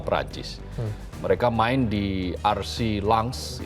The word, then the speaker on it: Lens: mereka main di ars langs itu tulisannya lens ya bacanya kan langs Kalau bahasa Prancis katanya begitu nah eh Abdul Kadir